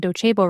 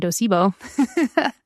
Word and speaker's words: Docebo: I just realized I've been spelling do or pronouncing dochebo wrong. I was saying doibo.